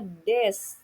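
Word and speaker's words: です: Kemudian nomor 5, Eko-san wa isha desu. Jadi topiknya adalah Eko-san dan dijelaskan Eko-san itu siapa? Eko-san itu seorang dokter. Selanjutnya des. Tulisannya memang desu, tetapi cara bacanya adalah des.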